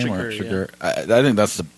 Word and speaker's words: Chigurh: That's how you pronounce his name? Chigurh.